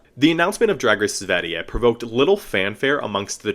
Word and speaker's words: Sverige: Via Instagram, the production company announced that Drag Race Sverige, let me actually confirm that's how you pronounce it. So, this is how you say Sweden in Swedish. Sverige.